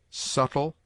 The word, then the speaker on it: subtle: It is mute in det, debtor, subtle, doubt, lamb, limb, dumb, thumb, climb, comb, womb.